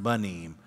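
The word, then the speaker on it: בנים: sons, which is pronounced banim. When you have it at the beginning, it makes a b sound.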